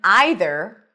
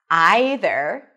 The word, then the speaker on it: either: You can either pronounce it as either, long I as in my, either, or as either. Either one.